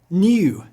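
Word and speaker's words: Nu: New. New may be surprising. It looks like our V, but sounds like our N.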